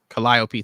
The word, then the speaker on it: Calliope: Calliope, thank you.